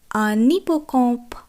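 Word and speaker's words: un hippocampe: যেহেতু এখানে আসের উচ্চারণ হবে না এবং তার পরবর্তী অক্ষরটি একটি ভোয়েল, তাই এটি একত্রে উচ্চারণ হবে।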